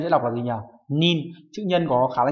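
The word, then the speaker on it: 人: Nhưng mà khi mà đếm người phải đọc là nin, do vậy chúng ta loại 3 và 4.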